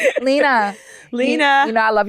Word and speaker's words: Lena: Leanne. Who the fuck is Leanne? Lena.